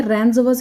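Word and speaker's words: rendezvous: ए इसमें सही है रेंज वस इसको पढ़ा जाता है इसमें डी साइलेंट होता है तो इसका मतलब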